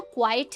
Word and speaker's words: quiet: पहला जो क्वाइट है QUITE, इसकी प्रोनाउंसिएशन होती है क्वाइट, क्वाइट। और जो दूसरा वर्ड है QUIET, इसकी प्रोनाउंसिएशन होती है क्वाइट, क्वाइट। That is the difference.